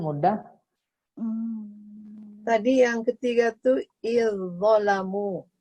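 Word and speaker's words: إذ ظلموا: Tadi yang ketiga tuh izzalamu. Jadi dibacanya bukan gini Bu. Nih, izzalamu, enggak izzalamu, tapi langsung tebal bunyinya. Izzalamu gitu. Izzalamu. Tidak dibaca izzalamu, tidak, tapi langsung bunyinya tebal.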